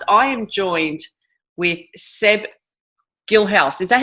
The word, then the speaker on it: Guilhaus: I am joined with Seb Guilhaus. Is that how you pronounce it? Yes, Guilhaus.